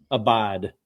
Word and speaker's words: Abide: So, just kind of kind of run it down about Josh and is it abide fishing or abide how you pronounce it? It's abide abide abide abide fishing.